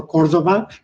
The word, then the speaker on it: Cordova: You know, some people call me Mr. Cordova or Cordova as the correct pronunciation.